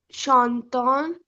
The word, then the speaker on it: chantons: Only nous et vous are pronounced at the end.